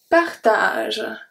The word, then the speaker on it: partage: Et, E-T, make the sound, et, partage. Partage. So here the G turns into a soft G because we have the E after.